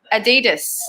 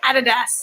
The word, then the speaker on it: Adidas: It's a German company, so you say it right, girl. We say it wrong. Oh yeah, Adidas. Yeah. Adidas.